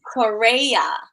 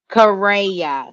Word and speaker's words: Correia: Yes, so it is Correia. Correia.